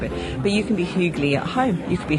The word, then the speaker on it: hygge: And we're sitting in a cafe now that emblematizes this word, which I will pronounce as hygge.